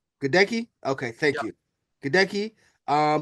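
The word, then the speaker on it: Goedeke: Um and also in the second round uh Luke um yeah they're not going to try to pronounce that name either. He's Gadeki. Gdki.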